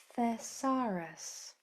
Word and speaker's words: thesaurus: So knowing that this e is a rule breaker and it says e, try to read this word.